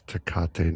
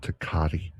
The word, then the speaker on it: Tecate: It's Tecate, not Tecate. Tecate. Tecate. Whatever.